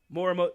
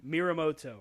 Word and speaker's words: Morimoto: CW television championship hero Morimoto Morimoto thank you Mira moto I mispronounce his name you still mispronounced it again yeah how was this